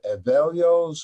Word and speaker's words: Evelio: about you through uh now how do i pronounce this evalio's garden available's garden that's correct oh yes i